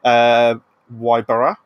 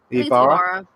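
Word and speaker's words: Ybarra: to be replaced by Jen O'Neill and Mike Wybara. I think it's Ibarra. Ibarra.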